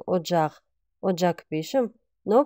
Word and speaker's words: Оджах: тонгал или же Оджах Оджах пишем но произносим как одджах Оджах пишем но произносим